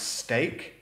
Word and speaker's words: steak: The next word, steak. This is pronounced steak. And then we have streak. Same vowels, different pronunciation.